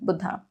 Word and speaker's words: Buddha: Hindi pronunciation, Buddha.